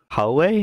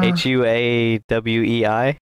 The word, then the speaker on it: Huawei: app gallery core way you mean hallway is that how you say that yeah h-u-a-w-e-i okay okay uh Holloway personally pronounced yeah Huawei the first time you pronounced it was great Huey yeah I'm Chinese